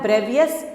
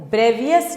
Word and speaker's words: Bravais: उसको उस चीज़ को कहा गया ब्रेवियस लैटिसेस, मतलब उसने कहा लैटिसेस कितने तरह के होते हैं?